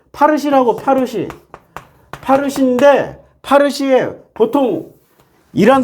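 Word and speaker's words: فارسی: 파르시라고.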